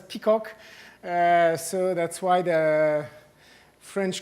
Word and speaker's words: PCOC: croissant pour l'ordre convexe, which acronym is PCOC, which can be pronounced as peacock.